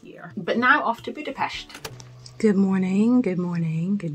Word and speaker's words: Budapest: Today, as you saw at the beginning, we were in Budapest with two of my good friends, Awat and Charlene. I pronounced it wrong a couple of times. It is definitely Budapest.